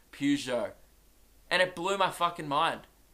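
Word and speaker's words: Pujols: or last week that pers o--'s are not pronounced per shows so everyone forsake us breath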